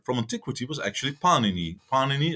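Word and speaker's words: Pāṇini: Antiquity was actually Panini Panini as the stress has to be on the first syllable was a Indian linguist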